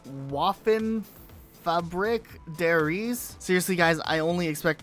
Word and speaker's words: Waffenfabrik der Riese: There's a sign that says Waffen Fabrik der Ries. Seriously, guys, I only expect my pronunciation on a lot of these words to just get worse. Luke, pronounce how you say this. Waffenfabrik der Riese.